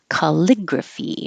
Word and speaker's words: calligraphy: like a d and calligraphy is unusual we practice that one over here calligraphy and it's four syllables stress on the second syllable calligraphy calligraphy calligraphy like equality so I used to